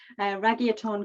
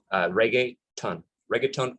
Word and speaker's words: reggaeton: Reggaeton Cruise, is that right? Reggaeton. Think of reggae, right? So reggae, the music is with T-O-N, which reggaeton would be the kind of Caribbean, Hispanic way of stating in that